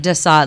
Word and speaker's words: Sade: No, it's actually more like de Sade, like the Marquis de Sade.